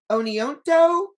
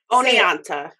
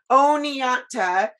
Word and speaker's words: Oneonta: might say this wrong is it oni o oneonto how do you say oni oneonta oneonta um and but what's really